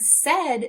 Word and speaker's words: said: In the word said, they're making the sound E, as if it were a short E.